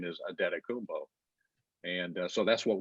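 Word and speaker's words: Antetokounmpo: guy their media people tell you how to pronounce and we ask their people you know and they said it's a data kumbo you know all the bucks people but we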